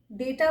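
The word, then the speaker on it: debt: डेट, इसमें B silent है।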